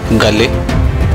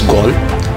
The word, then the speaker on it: Galle: So, my viewers, we would like to apologize because we have termed it as Galle. That's not the correct pronunciation. It's Gaul. From Gaul, we'll come to Bentota.